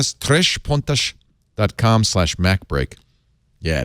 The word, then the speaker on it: Três Pontas: that 20% off you got to go to três pontas i say it that way so they can spell it TR es Pio and TAS that means